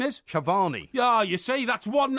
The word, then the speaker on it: Cavani: and cavan of PSG no incorrect it's levandowski yeah and Cavani yeah so you got that wrong hang on no you you pronounced them wrong rubbish that is Alter